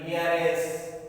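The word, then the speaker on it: heiress: আগেও এন বসে, যদিও এইচটা কনসোনেন্ট, এখানে এইচ উচ্চারণ নেই, তাহলে কি হবে? শব্দগুলো আমরা দেখে নেই। আওয়ার, এয়ার উত্তরাধিকারী, এয়ারএস উত্তরাধিকারিণী, অনারেবল সম্মানীয়, অনেস্ট, সব এগুলোর আগে কি বসে?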